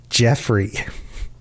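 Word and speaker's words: Y'ffre: There are debates on the internet, of course. There's a Reddit post where somebody posted this, and the most upvoted response was Jeffrey.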